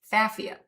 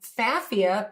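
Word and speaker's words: Pfaffia: Now, we named this fafia. The P is silent, and fafia paniculata, that is the botanical name.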